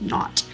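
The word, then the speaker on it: naught: it's actually h and this zero is actually pronounced not n-a-u-g-h-t so it's denoted by h for hypothesis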